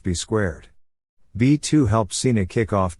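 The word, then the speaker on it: B²: Cena was eventually joined by an enforcer, Bull Buchanan, who was rechristened to B2, Also written B squared and pronounced B squared.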